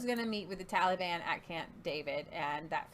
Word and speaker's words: Taliban: It's not Taliban. It's Taliban. Like you're going to sing a song.